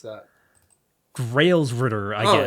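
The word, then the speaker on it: Gralsritter: Grows Ritter, I guess. Oh, it is grows writer. Grows writer. Okay. That Yeah, because it's written in German.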